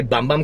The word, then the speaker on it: Bum Bum: the boom boom cream i always say bum bum cream but somebody said boom boom cream to me they said